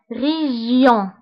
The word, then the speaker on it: région: E donc ré ré و G تبعها I كتقرا J en région région glisse glisse donc G